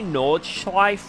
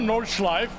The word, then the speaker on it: Nordschleife: Do I say Nordschleife wrong? Nordschleife. Nordschleife. Nordschleife. Nordschleife. It's not Nordschleife, it's Nordschleife. Do I have to put the on the end?